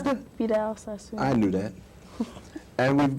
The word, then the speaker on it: Vidal Sassoon: Now, we've got Vidal Sassoon, how do you pronounce that? Vidal Sassoon.